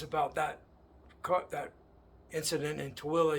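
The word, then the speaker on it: Tooele: that that incident in TOA Utah t o o l e we pronounce it TOA and um today when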